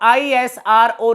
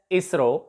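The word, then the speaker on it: ISRO: थे world for example इसको हम आई एस आर ओ नहीं बोलेगी इस कैन bay pronounced एस इसरो NASA laser beam है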